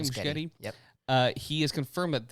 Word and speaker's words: Muschietti: Muschietti?